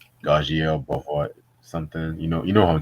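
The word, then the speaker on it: Garcelle Beauvais: I can never pronounce her last name. Gajiel Bohort something. You know who I'm talking about. Garcelle Bouveau.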